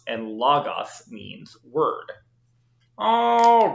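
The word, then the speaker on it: λόγος: now it's really important that you don't say logos can't drives greek guy's nuts window and non-greek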